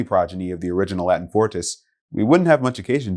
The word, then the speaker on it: forte: on our list today is fort and its tricky pronunciation as well as its more familiar italian homograph forte borrowed from french fong and originally denoting the